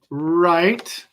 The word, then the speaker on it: write: we have right as in to write something right right wrong wrong wrong wrote wrote wrote wreck